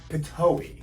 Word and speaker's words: Pitohui: Before continuing, the card says it's pronounced Pitohui, so I was close.